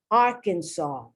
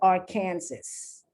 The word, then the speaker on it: Arkansas: don't pronounce the s arkansas and it's not our kansas it looks like our kansas but it's arkansas illinois these are states